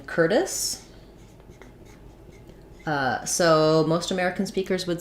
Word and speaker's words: Curtis: er they would have a flap t would sound a little bit more like a d so basically like curtis with an s sound first syllable stress curtis um that's because the t is in between two unstressed syllables um and the it has first syllable stress so tight r curtis um yeah okay great